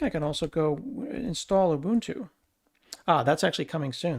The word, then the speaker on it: Ubuntu: Ubuntu um it is a Zulu word it's not pronounced Ubuntu so please stop doing that it's Ubuntu um and we're going